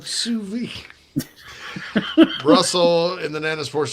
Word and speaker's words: sous vide: I believe it's pronounced sous vide, Tommy. Todd. I believe it's sous vide.